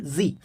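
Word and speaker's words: Sie: तो और इस सिंगल एस का जो प्रोनाउंसिएशन होता है वो ज, हिंदी का जो ज होता है, नॉट जॉ, ज, तो जी पढ़ते हैं हम, जी.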